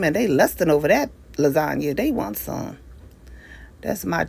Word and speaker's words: lasagne: Lasagne. That's how it's spelled. But it's lasagna.